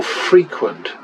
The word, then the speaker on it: frequent: frequent a lot, and or frequent, as Americans like to say. They pronounce it the same way as the adjective. The adjective and the verb, Americans out there, are pronounced differently, but never mind.